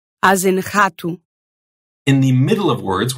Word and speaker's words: rato: So you'll hear that uvular R sound at the beginnings of words. As in rato.